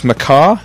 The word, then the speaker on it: MacCaw: We have Alex McCaw.